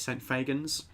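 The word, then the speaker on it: St Fagans: saint fagan i think fagin is how you say it saint fagans uh in wales and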